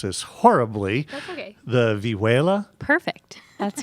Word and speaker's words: vihuela: And Maria, did you also play, and I'm going to mispronounce this horribly, That's okay. the vihuela?